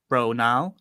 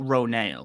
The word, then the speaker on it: Ronal: Although now, so Bailey Bass said that it's Ronal, not Ronale, which I'll be honest,